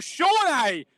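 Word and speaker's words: Sone: sam morsi lee evans sonny aluko or shawnee as matt would like us to have him pronounced uh macaulay bond and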